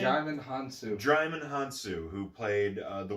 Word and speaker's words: Hounsou: I would argue Djimon Housen, I believe is how you pronounce his name. Djimon Hounsou.